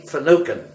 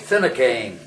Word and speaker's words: Finucane: won't mean much because you and I would probably pronounce it Finucane, Finneucane, and an Irishman refers to that as Finucane.